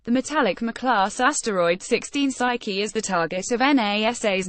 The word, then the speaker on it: Psyche: also found a way to get to Psyche, pronounced Psyche, much faster by taking a more efficient trajectory.